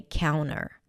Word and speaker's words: counter: But you can actually drop the T here and just say 'couner'.